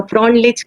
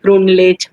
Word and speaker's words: Freundlich: Now, Freundlich can be pronounced as Freundlich, Frundlich, Frindlich.